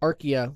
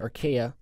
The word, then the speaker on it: archaea: So bacteria, archaea, and sometimes you'll hear that pronounced as the archaea, but I always pronounce it archaea.